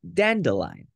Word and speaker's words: dandelion: Dandelion. That's nearly correct. Yeah, dandelion.